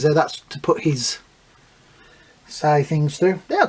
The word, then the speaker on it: sai: That's to put his sai things through.